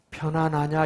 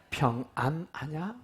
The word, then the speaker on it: 평안하냐: 글자를 잘 보셔야 돼요 편안하나 이렇게 부르신 겁니까 누가 발음 좀 정확하게 한번 해 봐요 안하냐 그래도 편하냐 렇게 듣는 분들이 있어요 근데 성경은 정확하게 예수님이 뭐라 그러세요 평안하냐 일반적인 사람들은 편안하기를 원해요